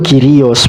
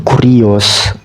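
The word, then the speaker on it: κύριος: Bukan, sebenarnya bacanya tuh Kyrios bukan Kurios. Kyrios dia, karena upsilon itu kalau dijepit huruf mati nggak dibaca U tapi Y.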